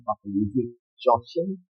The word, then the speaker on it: Joachim: It's originally from like German, Joachim. Right. But we speak English, so we say Joachim. So Joachim is the correct pronunciation.